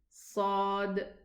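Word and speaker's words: ص: Sad, Dad, Ta, Dha. Can you see the resemblance between them? They are called heavy letters. This is how they are pronounced. Sa, there's an echo in the mouth.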